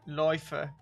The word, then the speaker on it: Läufer: It looks like Laufer. Yeah, but the thing is the two dots. Loi. Turns it into an oi.